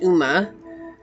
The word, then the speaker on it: Ogma: I know it says Ogma, but it's actually pronounced Uma. This is the Gaelic. I'm sorry, the Celtic warrior. Uma.